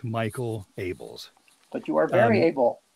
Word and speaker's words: Michael Abels: If I had my way, my name would be pronounced Miguel Ables, because it sounds so much better than Michael Abels. But it is, in fact, Michael Abels.